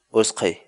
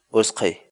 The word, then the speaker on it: utqhay: de vídeos en la que te enseñamos a pronunciar algunas palabras en quechua así que nuestra palabra del día por hoy es o sky o sky o sky la palabra quechua es que en español significa